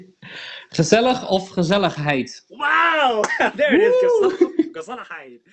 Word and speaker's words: gezelligheid: the other, and I make sure that I'm pronouncing it right. Gezelligheid. Gezellig of gezelligheid.